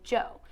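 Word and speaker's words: Djo: Keery releases music under a stage name, Joe, even though it is spelled D-J-O.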